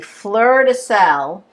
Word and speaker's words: fleur de sel: So I'm using this lovely fleur de sel. It's French. It comes from, I don't know, Camargue. Bruce, how do you pronounce it?